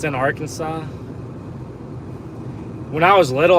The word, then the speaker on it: Arkansas: don't know it's in Arkansas when I was little I used to pronounce it arant Aransas I think it was like yeah I pronounced it Aransas and I figured out that was very wrong so wow guys we